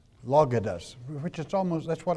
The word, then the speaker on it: logos: Now, this word here is pronounced logos, which is almost, that's what our word logic comes from.